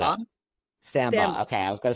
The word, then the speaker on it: Stambaugh: last name I don't want to M up sambba okay I was gonna say it like that